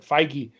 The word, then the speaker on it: Feige: Mikey Mikey anyway Smith it's spelled like beige with an F so I said phage but Feige whatever he said that if